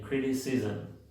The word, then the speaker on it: criticism: La 54 ISM se pronuncia ism. Si se dan cuenta, aunque no tengo una schwa, se mete la schwa. Siempre le llamo el sonido metiche porque se anda metiendo en varias palabras. En este caso se metió antes de la M.